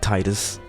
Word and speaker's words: Tidus: I might even play through it maybe, but we have Tidus, who looks like Tidus from Final Fantasy X. That is because I know it's pronounced Tidus, I don't care, but he was